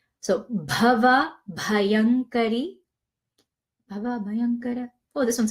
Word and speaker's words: Bhava Bhayankari: Bhava Bhayankari, and this is the BH, so it's pronounced with a strong aspiration of H, bha, as opposed to ba. So Bhava Bhayankari.